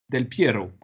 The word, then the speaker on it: Del Piero: DEL plus loin PIERO. Del Piero. Donc, comme ça s'écrit en italien, voilà, c'est comme ça.